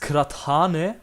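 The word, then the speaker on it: kıraathane: old name it's uh it's pronounced kratane yeah it looks like this it's like all traditional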